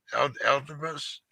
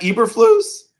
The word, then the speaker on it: Eberflus: Elderbus? Matt Eberflus? Eberflus. It's classic. It's classic Dutch pronunciation.